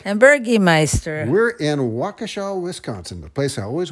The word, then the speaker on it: Waukesha: and I finally learned how to say the name right Waukesha not wakisha yes right there is